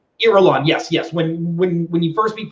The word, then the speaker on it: Irulan: When you first meet Princess Aurelian, I feel like I'm mispronouncing her name. I believe it's Irulan. Irulan, yes.